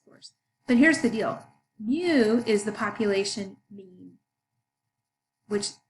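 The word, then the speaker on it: μ: everybody's height nobody's been lucked out and we pronounce it mu now if you're looking at a distribution how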